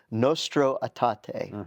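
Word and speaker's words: Nostra Aetate: because it is the 60th anniversary of and I think you correctly showed me how to pronounce it, Nostro Até, right?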